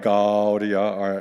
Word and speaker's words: Gaudia: Gaudia, Gaudia is how we will pronounce those first two words, but the rest is pretty straightforward.